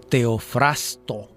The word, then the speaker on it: Teofrasto: Siglos después, Teofrasto, exactamente hay que decirlo Teofrasto, que es difícil pronunciarlo por esa R que está allí atravesada.